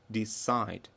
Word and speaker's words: decide: Decide. Promise. Marry. Promise. Первый слог под ударением. Marry. Первый. А вот decide. Второй. И agree.